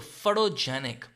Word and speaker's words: photogenic: सो फटोजेनिक. टी को आप हल्का सा डी प्रोनाउंस कर सकते हैं, और जब आप टी को हल्का सा डी प्रोनाउंस करते हैं इसे कहते हैं फ्लैप साउंड.